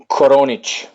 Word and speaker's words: Koronic: okay how do you say your last name konic I don't know why I couldn't have yeah